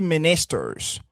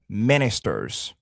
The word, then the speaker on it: ministers: Alors, il a dit ministers ici le stress, l'accent sera sur la première syllabe. On dira plutôt ministers, right? Ministers, pas ministers.